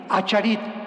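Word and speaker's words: אחרית: Postreros es arit, así como suena con ch. Se pronuncia ait, aharit.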